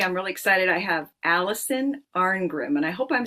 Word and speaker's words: Alison Arngrim: I have Allison Arrim and I hope I'm saying your name right.